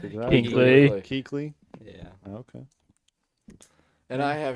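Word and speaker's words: Kuechly: How do you pronounce that? Keley.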